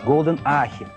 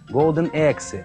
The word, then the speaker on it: Golden Axe: Как вы только не называют? Golden Ahi, Golden Axe, Golden, в общем, ужас, слушать невозможно.